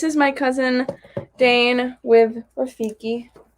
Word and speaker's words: Rafiki: And then this is my cousin Dane with Rafiki. You're saying that wrong. Dad likes to say Rakifi.